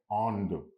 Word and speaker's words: Inde: फ्रेंचमध्ये काय आहे? ऑन्द. म्हणजे त्यांचं स्पेलिंग वेगळं आणि उच्चार वेगळं असं थोडंसं असतं फ्रेंचचं. म्हणजे INDE ऑन्द.